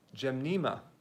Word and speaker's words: Gymnema: It's called Gymnema. Gymnema. Is it Gymnema? How do you pronounce it? Gymnema. Gymnema. Yeah, that's what it is.